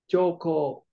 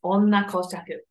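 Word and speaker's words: 女公爵: How do you think it's read? Joko. Good guess. It's actually onna in this context. Onna. Hi. Koshaku. Yes, onna koshaku. This is how you say duchess.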